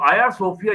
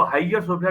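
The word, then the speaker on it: Hagia Sophia: जाएगी और जो जो आया सोफिया जिसकी स्पेलिंग एच ए जी आई ए उसको हाईयर सोफिया भी लोग कहते हैं उस चर्च के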